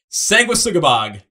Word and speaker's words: Sanguisugabogg: I gotta make sure I pronounce the name right. Sanguisugabogg.